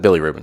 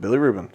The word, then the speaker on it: bilirubin: Do you know how to pronounce that? Bilirubin? Billy Rubin. Is that it? Billy Rubin. Yep. Okay, cool. Yep. Bilirubin.